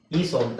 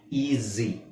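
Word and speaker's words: easy: ಮಾಡೋದು ಏನು ಈ ಐ ಈ ಸ್ವಂತ ತಾನೆ ಈಸಿ ಅಂತ ಹೇಳಲ್ಲ ಈಜಿ ಈಸಿ ಅಂದ್ರೆ ಏನ ಅರ್ಥ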